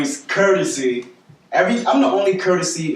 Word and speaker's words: Kertasy: weak to me but again my name is courtesy every I'm the only courtesy in a world I'm the only way you spell it ke r ta sy it's gonna be